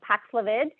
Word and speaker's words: Paxlovid: So the most recent pill that was approved was the Paxlovid. Did I pronounce that correctly?